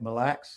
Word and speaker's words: Mille: Did I say it right? Mille? You did. Mille. I finally got it right.